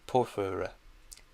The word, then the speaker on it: porphyry: Wait, no, the schwa's in the middle. Porphyra. Yeah, I did say it right.